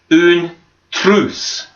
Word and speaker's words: une trousse: you répétez en français, une trousse, une trousse. And remember the R, when we pronounce it, we kind of roll the R. It's sort of like your tongue vibrates. So une trousse.